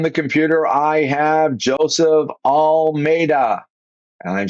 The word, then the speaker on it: Almeida: host today on the computer I have Joseph all Meda and I'm saying it right I hope Perfect all right Almeda I said you gave it to me phonetically